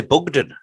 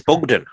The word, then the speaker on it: Bugden: Well, we've been saying Chris's name wrong. It's actually Bugden. Bugden.